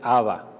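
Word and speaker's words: אבא: de estudios dice que esta palabra padre literalmente está escrita en arameo y se pronuncia a va muy interesante esa observación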